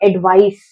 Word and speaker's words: advice: Last में हमको स का साउंड लेकर आना है. एडवाइस, एडवाइस.